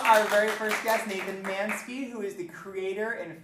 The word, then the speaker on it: Manske: Am I saying your last name right? Manske. Manske? Okay, good. I just now realized as I'm saying it, I'm all Mansku, or I don't want to say it wrong.